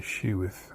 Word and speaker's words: sheweth: Of course, I say showeth, but it's with an E. Some people say sheweth. I say showeth. To me, it's the same thing. I don't have to pronounce the E as everybody else does. That's just the way I pronounce it.